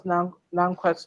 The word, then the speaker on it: Nankwat: Nankwat, it's Nankwat. actually a tribal name, so you can't pronounce it the way we actually do, but you're doing perfectly well.